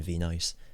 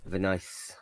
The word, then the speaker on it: Venice: she would have been V-Nice. But doesn't work as well because it doesn't. Actually, that's not how you pronounce the place, so it doesn't work as well. Venice.